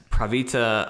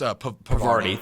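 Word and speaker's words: Parvati: Ashley Birch as Pravita Holcomb. Jesse. Huh? Oh, wait, no, I see. I thought you were on, that's Pravarti.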